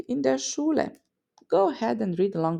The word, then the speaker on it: Schule: The sh at the start of Schüler and Schule, the E in die, and the long U in Buch.